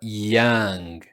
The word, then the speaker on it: young: A pronúncia é mais para young do que yo ok? Sou young. E também a gente não pronuncia o G, a gente pronuncia muito mais o yang.